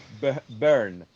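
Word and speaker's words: Byrne: ¿Cómo se pronuncia? ¿Bayer o Virne? Burn.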